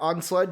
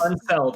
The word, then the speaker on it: Unseld: apparently that were reported were Unsled Jr. I think it's Unseld.